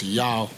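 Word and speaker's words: Yaw: I'm here at my brother's house, Yao, Y-A-W, that's how he pronounce his name, or spell his name as well.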